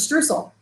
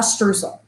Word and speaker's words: Streusel: Well, I started with a streusel.